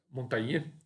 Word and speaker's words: Montaigne: Montaigne, a gente vai citar algumas coisas aqui a respeito dele, Montaigne, na pronúncia mais em francês, que é um filósofo que nasceu em 1533 e morreu em 1592.